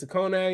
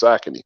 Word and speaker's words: Saucony: How you say it? Zacconi or some shit like that? Saucony. It's Saucony. Saucony, man.